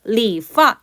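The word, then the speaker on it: 理发: 나타내는 건 파가 되겠어요 요때 성조는 성이에요 왜냐면 해당 글자 같은 경우는 다음 쪼로 파도 발음이 되고 파 4성도 되거든요 자 이합 동사이 때문에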